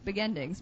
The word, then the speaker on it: Begendings: Katherine where can people purchase beginings am I pronouncing it right I can't it's be beginings beginings beginings yeah there you go beginings because it's not the beginning it's not the